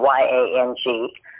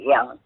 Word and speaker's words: Yang: we pronounce it young y-a-n-g although uh your your mom and aunt say yang because they were born here but we pronounce it the chinese way young i was born in